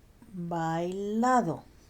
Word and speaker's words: bailado: The D here is not pronounced like a hard English bouncy duh. It's more like the TH in then or there. So put your tongue in between your teeth and say then and there, and then try bailado, estudiado.